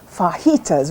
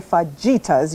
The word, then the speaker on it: fajitas: going to be chicken fajitas repeat after me it's spelled with a j but if you say fagitas you don't know anything exactly so we start with